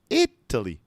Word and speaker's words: Italy: it is yeah so when we say the country the stress is on italy italy it italy but when